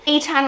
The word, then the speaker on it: Eitan: name for boys is eitan or ethan they're kind of the same name eitan would be more of the hebrew pronunciation of it but you could use